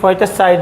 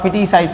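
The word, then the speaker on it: feticide: इसे फर्टिसाइड ही, इसको फोर्टिसाइड भी बोलते हैं कई लोग, लेकिन इसका फिटिसाइड प्रोनाउंसिएशन है अमेरिकन इंग्लिश में।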